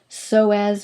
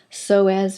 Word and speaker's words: Psoas: we're looking at is so as major the p is silent so as major now this muscle